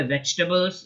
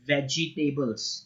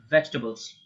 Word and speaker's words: vegetables: vegetables by the way vegetables is the sound you want to make not vegtables its vegetables like the table was wedg okay vegetables how will